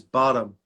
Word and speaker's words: Bottum: I say your surname my surname is bottom it's like ah bottom yeah the pronunciation is bottom all right it's right